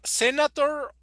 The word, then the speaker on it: senator: Senator. It's the correct pronunciation. Senator. Senator. The Okay. T. Yeah. The T is a little softer.